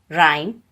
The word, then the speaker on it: rhyme: H is not pronounced when it comes after C, G, R, R. For example, choir, ghost, rhyme, etc.